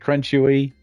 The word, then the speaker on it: Crunchewy: So, yes, it's pronounced crunchy and it's chuck wagon dog food ad where they had crunchy nuggets and chewy whatever.